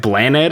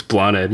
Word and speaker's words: Blaned: I mean, like people say like, is it Blaned? I'm like, that's close enough because it's Blaned.